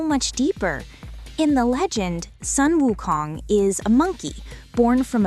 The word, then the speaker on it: Sun Wukong: The Chinese name for the Monkey King is Sun Wukong. The Japanese reading, the Japanese pronunciation of those exact same three kanji characters is Son Goku.